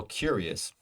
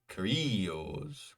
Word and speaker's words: curious: stress syllable persuasive again curious we know uh it's the first syllable curious we do not say cuos curios no it's curious so our only Ro